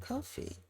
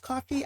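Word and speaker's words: Ko-fi: Yeah, I think it's pronounced coffee. I've heard other people pronounce it that way.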